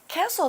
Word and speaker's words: castle: Castle 这个名词呢是城堡。那注意哦，如果一个单词的字尾是 S-T-L-E 结尾的 T 不发音哦，我们念作 castle。那我们例句说啊，那位年轻的国王决定要沿河岸建筑他的城堡。那回到故事呢，Puss 听说有一座非常漂亮的城堡。A castle would be a cool place to live in.